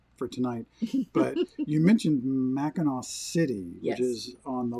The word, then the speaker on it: Mackinac: little more consistent but basically there's no difference between that W or the C you pronounced the same way it all came from